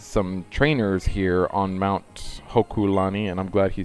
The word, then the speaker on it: Hokulani: is but there's some trainers here on Mount Hokulani and I'm glad he said it right now